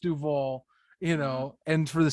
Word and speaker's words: Duval: It's spelled it's pronounced Duval.